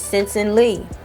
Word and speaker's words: Sensen Lee: It's Sensen Lee.